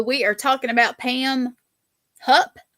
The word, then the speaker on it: Hupp: So we are talking about Pam Hupp. Am I saying it right? Yep. Hupp. Yep.